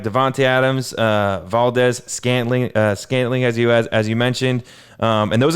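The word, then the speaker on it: Valdes-Scantling: Valdez, I'm on the injury report right now, and it looks like Davonte Adams, Valdez, Scantling, as you mentioned, and those are the only 2 wide receivers on the Packers that are out right now.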